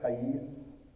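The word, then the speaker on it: קַיִץ: By the way, the Hebrew word for summer, kayis, sounds like the word for end, kayes. Interesting.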